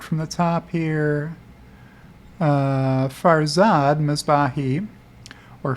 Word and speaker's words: Farzad: i should start from the top here uh farzad mizbahi or farzad if you want to pronounce it correctly at farziness over under tesla